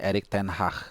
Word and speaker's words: Erik ten Hag: Ini by the way, pronounce Erik ten Hag ini banyak versi ya, tapi dari yang gue tahu ya, bacanya Erik ten Hag. Nah, jadi kayak ada G sedikit, H sama C juga, Erik ten Hag gitu ya.